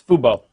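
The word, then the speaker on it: FUBU: I don't know exactly how you pronounce Fubo, or if it's Fubo or whatever. No, it's Fubo.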